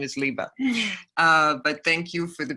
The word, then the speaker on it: Liba: Oh, and speaking of pronouncing wrong, my name is Liba, and because we've only met on, but just for everybody out there, my name is Liba.